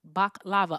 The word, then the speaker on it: baklava: Oh, so I was right cuz the other one with more syllables is the thing that you put over your face. Okay, got it. Baklava. I had it right.